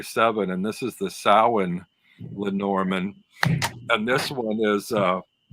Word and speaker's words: Samhain: And then the other one I got is from I got off Etsy from Tarot by Seven, and this is the Samhain Lenormand, and this one is it's on linen